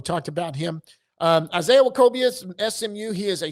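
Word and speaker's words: Nwokobia: Next, we've got Isaiah Wakobia. That's that N is silent. We had uh we had Scott Garner on when we talked about him. Um Isaiah Wakobia is SMU.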